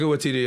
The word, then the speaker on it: Waititi: Is that how you pronounce his name? Taika Waititi.